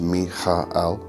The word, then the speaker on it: Michael: Okay, so in the day position is the position of fire and the archangel Michael, and it is pronounced Michael.